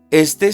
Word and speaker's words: esté: Esté siempre disponible para su hijo. Por eso tiene acento en la E.